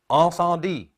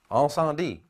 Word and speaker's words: Incendies: Now, the way you pronounce this is Incendie. Incendie.